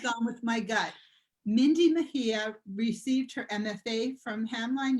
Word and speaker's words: Mejia: much green room time, the proper pronunciation of your last name. It's Mejia. It's a Spanish name, so the J is like an H.